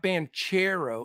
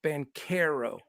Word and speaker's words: Banchero: half the names but it's not banchero it's Ben Caro oh like the dude's